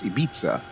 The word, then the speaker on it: Ibiza: I'm trying to pronounce it the way someone who speaks Castilian Spanish would. So I think it's Ibiza, something like that.